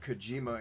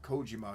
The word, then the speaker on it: Kojima: to get that right that's why you always hear me go back and forth between kojima and kojima because kojima is the you know anglicized pronunciation but i'm pretty sure it is kojima because in in you know japanese there's no emphasis on syllables the way we do it so it's just kojima so i try i